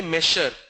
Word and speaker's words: measure: ZH is pronounced as j. For example, pleasure. For example, measure. We can't say measure. It's measure, pleasure, treasure.